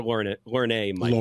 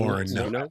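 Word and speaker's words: Lorne Michaels: So SNL creator, uh, do you pronounce this Lauren Michaels or Laura Michael? Lauren Lauren. Lauren.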